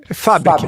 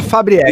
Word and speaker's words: Fabric: Como é que eu pronuncio? Fabriec ou Fabriec? Fabric, mas a maioria chama Fabriec.